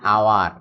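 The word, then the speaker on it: hour: দেখো একটা নিয়ম, যদি শুরুতে এইচ থাকে কিন্তু এইচ এর উচ্চারণ হয় না, যেমন অ্যান আওয়ার, এটা হাওয়ার উচ্চারণ না, আসলে অ্যান আওয়ার।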